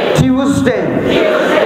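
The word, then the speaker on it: Tuesday: স্যাটারডে যারা বলে না তাদের মুখে যত চলবে স্যাটারডে স্যাটারডে সানডে সানডে Monday Monday আবার ভুল করে বইলেন না মন দে মানডে টিউসডেস ইউকের যারা নেটিভ তারা টিউসডে টিউসডে কোথায় আপনারা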